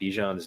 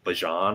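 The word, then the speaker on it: Bijan: I will say, did you guys see that we've been saying Bejan's name wrong and it took him like five years to correct people? Like, dude, it's like Bjon or something.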